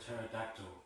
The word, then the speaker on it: pterodactyl: can't you hear a pterodactyl go to the bathroom because the p is silent how do you get